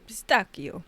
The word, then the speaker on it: pistachio: In English, though, it is usually said as pistachio, because it's a mix between the French and the Italian, and it seems that this pronunciation the English language has adopted.